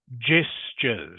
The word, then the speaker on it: gestures: fourth word is pronounced gestures. Can you say that please? Dinglam. Gestures. Gestures. Gesture. Okay. So it's a soft g sound.